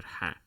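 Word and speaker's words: حاء: that sound right there that is the letter ha but instead of saying it simply say it it comes from the the top part of the pharynx just before it enters the esophagus and the trachea but like i said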